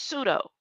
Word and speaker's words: pseudo: The P is silent. The P has always been silent. It's not P, it's E. It's not pseudo, pseudo, it's pseudo.